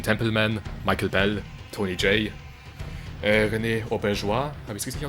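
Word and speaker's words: René Auberjonois: Mit Simon Templeman, Michael Bell, Tony Jay, René Auberjois, habe ich es richtig ausgesprochen?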